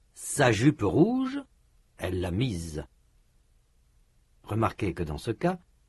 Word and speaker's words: mise: Elle l'a mise. Remarquez que dans ce cas, la prononciation est différente. Dans mi, le s n'est pas prononcé. Dans m, il est prononcé comme z. Comme un z.